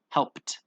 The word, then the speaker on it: helped: through that letter right helped helped okay looked sniffed right that that EB almost doesn't exist it's almost like we're saying it like this help helped it's almost like the IDI doesn't exist left washed watched kissed danced